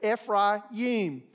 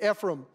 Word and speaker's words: Ephraim: second syllable be like our American word fry like french fry e fry and then Yim y-i-m Ephraim but in America we would typically say Ephraim then there's the tribe